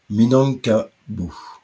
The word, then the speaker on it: Minangkabau: Excusez ma prononciation. Minangkabau.